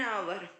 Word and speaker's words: hour: देखो एच है साइलेंट है, लेकिन इसका प्रोनाउंसिएशन एन आवर।